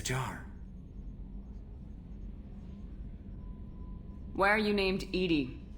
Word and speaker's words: EDI: airlock is a jar why are you named Edie Edy is the phonetic pronunciation of e that is an acronym for